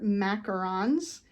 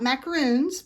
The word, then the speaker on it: macaron: all kinds of flavors these are macarons so you know the French not macaroons but those are coconut